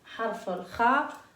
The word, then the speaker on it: خ: Et harf al-kha, c'est la lettre qu'on va étudier aujourd'hui.